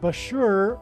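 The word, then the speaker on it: Bushehr: Bashur nuclear power plant and Bashur rhymes with Barker it is predicted that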